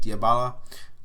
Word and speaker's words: Dybala: have been Dybala, that's how you say it, Dybala, who's been excellent.